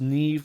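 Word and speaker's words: Niamh: is her too uh it is pronounced Neeve like NE V I'm awful with the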